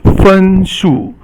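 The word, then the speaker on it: 分数: The next one is fen shu. So fen is the first tone, and shu is the fourth tone.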